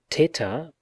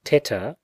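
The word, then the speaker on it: theta: 187 and the following the lisping pronunciation of teter like the english usual in modern greek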